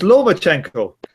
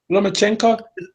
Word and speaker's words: Lomachenko: People pronounce their names wrong more often. It's Lomachenko. Lomachenko.